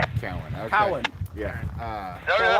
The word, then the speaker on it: Cowan: there's a lot of people that aren't from there that call it Cohen, which is just weird. Yeah, it's Or Cowan. that's spelled with an E. I just think of a milk cow all the time.